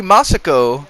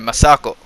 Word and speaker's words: Masako: The other characters, Lady Masako, as we're seeing right now, that was such a horrible pronunciation. Masako.